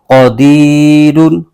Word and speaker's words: قدیر: ساکن ہو جائے گا۔ اس کے ہجے یوں کریں گے، قاف زبر قا، دال یا زیر دی، قدی، را دو پیش رن، قدیر، آگے وقف قدیر۔ تو یہاں پر ایک